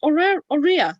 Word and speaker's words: Aurea: Is that pronounced Aurea? Sorry. Aurea. It's Aurea. okay.